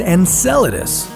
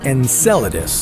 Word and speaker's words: Enceladus: would happen if we found alien life on Enceladus first of all it's pronounced Enceladus not Enceladus sorry muchacho Enceladus is Saturn's sixth